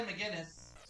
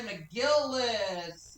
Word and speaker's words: McGillis: restaurant in what u.s florida who is kelly mcginnis kelly mcgillis oh i always get the last name wrong no fine no fine you know the